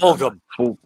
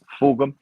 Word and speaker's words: Fulghum: I keep putting an R on it. Fulghum. Fulghum.